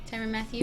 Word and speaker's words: Tyrann Mathieu: Tyrann Mathieu? Yeah. Hopefully I pronounced it right.